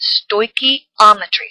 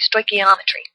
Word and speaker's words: stoichiometry: half of it well when you talk about stoichiometry that's what you're dealing with it's Greek for measuring element so it's pronounced stoichiometry stoichiometry say that three times real fast it's defined